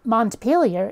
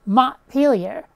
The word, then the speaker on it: Montpelier: apostrophe at the end the capital isn't Montpelier its Montpelier seriously my name is